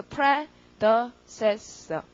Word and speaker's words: predecessor: 그래서 발음만 연습하는데 강세가 pre에 있거든요. 그래서 predecessor.